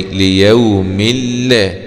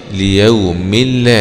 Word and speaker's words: ليوم الله: يعني الكلمة هذه في آخرها كسرتين، ليوم، فهي آخرها نون تلفظ ولا تكتب، ليوم النون الأخيرة دي، لكن بعضها حرف لام فبنلغي النون. بنقرأها إزاي؟ ليوم الله، يوم الله، ليوم الله، هكذا.